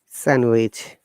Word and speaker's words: sandwich: come to this verse letter d is also not pronounced in these words if you're handsome it's not handsome it's handsome then handkerchief sandwich not sandwich okay that's